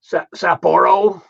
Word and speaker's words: Sapporo: He's got some Sapporo. Is that how you pronounce it?